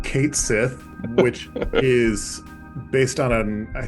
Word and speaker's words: Cait Sith: Irish, folk tale of Cait Sith. It's spelled C-A-I-T space S-I-T-H. But Cait Sith is how you would pronounce it in whatever language that is.